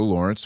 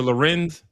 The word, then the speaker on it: Lorenz: don't know, that Taylor Lawrence, former Washington Post journalist, not exactly the most objective source of news. Oh, you talking about Taylor Lorenz? Oh, is that how you pronounce it?